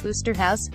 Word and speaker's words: Oosterhuis: And Scully has a field day with Osterhuis, whose last name is pronounced Oosterhuis.